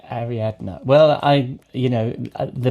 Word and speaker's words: Ariadna: fine that's cuz my my actual name is Ari adma and it's it's that D at the end is not a natural pronunciation AR adna well I you know the most polite thing